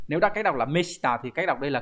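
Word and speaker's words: 目下: Mục và chữ hạ viết như vậy nhưng mà khi đọc là meshita thì có nghĩa là người vai dưới. Người dưới có thể là người là chức vụ thấp hơn hoặc là người ít tuổi hơn.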